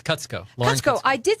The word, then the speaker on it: Kutsko: let's go how do you say it it's cuts go let's go I did say it right so